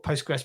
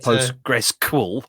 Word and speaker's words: PostgreSQL: It's PostgreSQL. I don't normally. Most people don't normally pronounce the QL that I've heard. So I guess that's probably a potato, tomato. I mean, you could call it PostgreSQL if you wanted to.